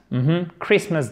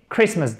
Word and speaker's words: Christmas: Christmas Day. Christmas Day. Le T ne se prononce pas, on met bien l'accent tonique sur la première syllabe qui est un I court. Christmas Day.